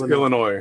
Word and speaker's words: Illinois: and oh no every everybody gets Illinois because that's the way you would say it if you read it the way it's spelled but it's just it's Illinois Illinois so yeah there were